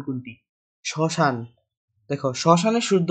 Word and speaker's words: শ্মশান: শ্মশান শব্দটির শুদ্ধ উচ্চারণ কোনটি? শ্মশান।